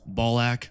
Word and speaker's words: Balac: After them were the Marines Malevolent with veteran space marine of the first Vilifiers, Balac, which rhymes with say with me folks, Ballsac.